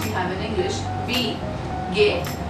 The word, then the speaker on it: geht: Wie geht, like the open, close gate, like the gate which we normally have.